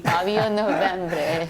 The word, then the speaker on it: Fabio Novembre: I love saying that name, Fabio Novembre. Thank you, Minja. Thank you. You pronounce it quite good, I must say.